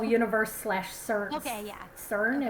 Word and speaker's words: CERN: slash search okay yeah cern is how you say it cern yeah so some people